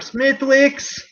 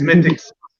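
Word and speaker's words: Smithwick's: the americans used to come in looking for smithwicks it's it's mythics are you any smithwicks no it's it's it's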